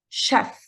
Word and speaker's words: chef: the unique words because it is pronounced Chef without that sound at the beginning English chef chef in